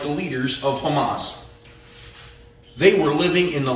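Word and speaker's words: חָמָס: This is how it's pronounced. Hamas.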